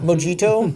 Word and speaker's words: mojito: Mojito or the mint mojito the Mojito exactly the J is silent and this one's the